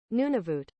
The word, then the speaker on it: Nunavut: we pronounce it Google lady how do we pronounce it Nunavut Nunavut Nunavut Nunavut Nunavut okay okay does it change if I make it British nunavit Nunavut would they use the British spelling there